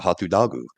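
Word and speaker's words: ホットドッグ: So they used the English word hatu dagu, or hot dog, and they pronounce it hatu dagu.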